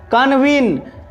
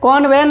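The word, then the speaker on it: convene: व ई एन ई कन्वीन सी ओ एन वी ई एन ई कन्वीन इसे कनवन नहीं पढ़ना है इसे पढ़ना है कन्वीन कन्वीन मतलब होता है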